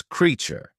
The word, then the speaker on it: creature: on spellings for example consider the word create which is pronounced with an a sound as in creation however in the word creature we don't use the same a sound it's pronounced differently as creature this inconsistency highlights the